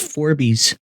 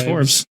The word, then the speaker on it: Forbes: I thought it was pronounced Forbies. I thought it was Forbes. Forbes.